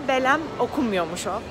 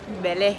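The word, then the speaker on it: Belém: I'll go to Belem By the way apparently it's not pronounced as Belem New information every day. It's not pronounced as BeleM, more like Belé You don't say the M at the end.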